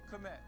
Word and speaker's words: Kmet: Let's go ahead and let's get Cole Kmet. I think it's Cole Met. I don't know why you would pronounce the K, but you know what?